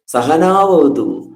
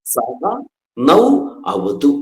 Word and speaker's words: സഹ നൗ അവതു: ചിലര് സഹനാവതു സഹനൗ ഭുനക്കുതു എന്ന് പറയാറുണ്ട്. സഹനാവതു എന്നല്ല, സഹ നൗ അവതു എന്നാണ്.